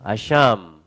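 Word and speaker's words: אשם: 근데 이게 원래 이제 아샴이라고 읽는데요. 자, 한번 해보죠. 아샴.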